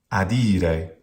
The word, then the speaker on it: adire: Adire, not adire.